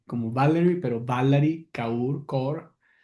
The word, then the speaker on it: Kaur: Se llama Valery, como Valery, pero Valery Kaur Cor se pronuncia, pero escribe K A U R. Valery Core tiene un libro que que se llama en inglés sí no stranger.